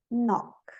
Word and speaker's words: Knock: K is always silent in the word initial spelling sequence. K-N. Não, sempre na KN, o N não é pronunciado como Neil, Ni, Nob, Night, Nave, Knowledge, Knife, Knock.